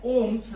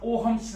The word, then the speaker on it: Ohm: ओहम, और यह है ओम्स लॉ, ओहम्स लॉ। अगर आपकी बुक में नाम ओहम दिया है, ओहम करके लिखना, ओम दिया है तो ओम मोस्टली होना क्या चाहिए, ऐसे यहां पर साइलेंट है।